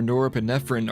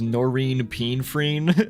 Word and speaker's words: norepinephrine: Acetylcholine levels are high, maintaining brain activity, while monoamines like serotonin or norepinephrine are silent, creating the unique REM sleep environment. By the way, I was pronouncing norepinephrine as norine pinfrine in the last video.